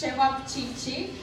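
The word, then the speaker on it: ćevapčići: I believe it's hard to pronounce. I can repeat it. It's cevapcici.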